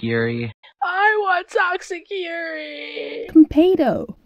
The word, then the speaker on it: Konpeito: Kanpeito. It's pronounced Kanpeito.